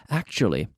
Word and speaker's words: actually: Actually, I thought it was going to be faster. So be careful with the pronunciation. Actually, chew, T-U, the T-U sound, chew, actually. Like Portugal, chew, actually.